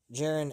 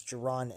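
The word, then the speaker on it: Jaron: take a look at jiren ennis's uh height and weights and so forth uh give me one second or Geron uh I might have been mispronouncing the name it's Geron Andis let's see what he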